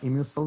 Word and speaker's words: Immucil: Okay, so we got the name Immucil 9. So it's kind of same pronunciation with the Gardasil.